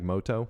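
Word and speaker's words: Mutou: Now, I think they say like Moto in the show for the Americanized, but it's spelled like M-U-T-O-U, so, like Yugi Moto, who solves the ancient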